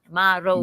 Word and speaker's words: Maroe: And now we are entering Maury Bay. Am I pronouncing that correct, Melanie? Maury? Maore. Maroe. Maroe. Mahore.